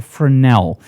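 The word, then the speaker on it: Fresnel: that I absolutely love a frenel remember the S is silent now a frel is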